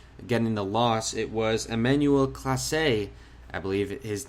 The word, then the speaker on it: Emmanuel Clase: for the indians getting the loss it was emmanuel clase i believe his name is pronounced he's now three and four in the